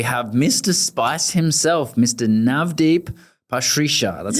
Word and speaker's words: Navdeep Pasricha: Navdeep Pasricha.